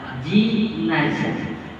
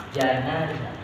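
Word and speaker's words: جنازة: Jadi kalau dibaca fathah janazah, janazah. Jika dibaca fathah, ini berarti mayit ini masih di dalam keranda. Tapi kalau dibacanya jika dibaca kasroh, ini adalah kerandanya.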